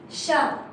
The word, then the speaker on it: chat: Donc, chat with a T, you write it, you don't pronounce it.